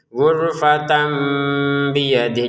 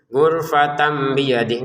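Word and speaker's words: غُرْفَةً بِيَدِهِ: Maka di Quran Madinah ini tanwinnya fathainnya dikurangi satu menjadi gurat. Kemudian ada mim kecil seperti ini. Jadinya kita bacanya gurfat tamam ya. Yang awalnya gurfatan terbacanya gurfat tamam dengan samar dengan bnya ini gurfatan biyadi. Jadi harus ada jeda samarnya ya. Jangan gurfatan biyadih kan enggak ada jeda. Kita jeda dua harakat untuk samarnya.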